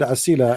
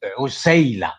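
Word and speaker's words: عسيلة: Is Usayla, not Asila. It is Usayla.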